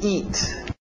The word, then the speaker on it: eat: To eat. To eat, aquele T bem nítida. Eat, para no T, eat. Isso, EA, som de I, to eat.